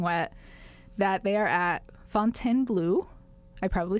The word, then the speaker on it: Fontainebleau: So the Americanized version is Chateau de Fontainebleau. Fontainebleau, yes. That would be how Americans But I think the butchered French version, as my literally 0 days of French, and, you know, the language is Chateau de Fontainebleau. Okay. I think that's close.